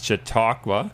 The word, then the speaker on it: Chautauqua: It's a real tongue twister in terms of pronouncing, and trying to spell it has provided some challenges for me and my peers. But I think it's Chautauqua.